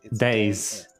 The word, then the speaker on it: dais: what is that it's it's actually two syllables days what is that explains